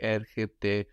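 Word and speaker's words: έρχεται: Erchete is he comes, she comes, it comes. Erchete. Erchete. And we notice now with erchese, erchete, that the ch is softened by that e.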